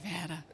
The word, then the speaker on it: Nevada: not broken the state of Nevada have had Nevada I love it you spend way too much